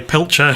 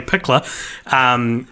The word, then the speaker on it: Pickler: story I told about who I pronounced as Joey Pilcher, whose name's actually Joey Pickler.